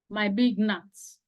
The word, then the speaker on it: gnat: this passage might be gnats. So for gnats, you don't sound the G. It's a silent letter. So the word is gnat.